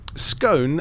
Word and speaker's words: scone: the horse puns um scone as in the tasty treat rhymes with gone not bone that is for scone